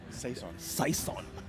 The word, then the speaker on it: Saison: Well, speaking of which, let's pull up our MVP for this game, and it's none other than looking for Saison. You pronounced it correctly.